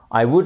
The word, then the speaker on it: would: contractée de would et on ne prononce pas le l would like this and that